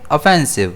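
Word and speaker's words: offensive: इसे हम प्रोनाउंस करेंगे ऑफेंसिव जिसमें स्ट्रेस जो है वो एफ पर रहेगा।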